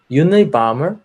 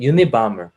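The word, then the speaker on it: Unabomber: 그 앞에 UNA를 붙여서 유니바머 이렇게 발음을 하더라고요.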